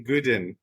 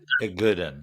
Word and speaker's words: Igoudin: Lane, and I feel like the I is silent, so I'm going to say Igoudin. Igoudin.